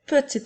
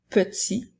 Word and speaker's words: petit: personnes ou des objets j'utilise le mot petit lorsque le mont est au masculin alors il s'écrit puis la dernière lettre T est une note muette alors peut si comme